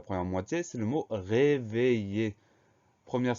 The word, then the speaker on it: réveiller: Donc, le son I s'obtient avec I-2-L. Avant ce son I, on a la lettre E qui permet de faire réveiller.